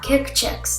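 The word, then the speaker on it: Kikchix: He got Kick Chicks, the best cereal for the holidays. Kick Chicks. Okay, that's spelled K-I-K-C-H-I-X.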